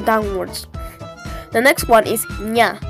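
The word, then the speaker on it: ञ: the next one is nya which is pronounced like the ni in onion and you might recognize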